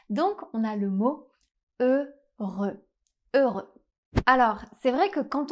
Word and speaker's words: Heureux: un /ø/ fermé et le X final est encore une fois une consonne muette. La dernière consonne du mot ne se prononce pas. Donc on a le mot Heureux.